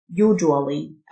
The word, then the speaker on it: usually: شائع commonly commonly usually الاس يو تنطق الجه usually او usually usually والنطقين